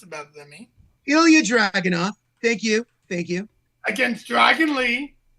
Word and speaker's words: Ilya Dragunov: So say his name since you feel you could pronounce it better than me. Ilya Dragunov.